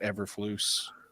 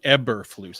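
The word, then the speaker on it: Eberflus: bradley um replacing matt everfloose not replay yeah ebber flutes i keep saying ever but whatever we're not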